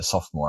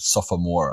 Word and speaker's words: sophomore: and you skipped yeah it actually took me some time to realize how to pronounce sophomore I said suffer more oh really so I